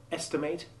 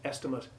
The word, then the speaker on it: estimate: For example, whereas the stressed endings of the verbs estimate and affiliate have the long A1 sound, the unstressed endings of the nouns estimate and affiliate are not lengthened by the final silent E.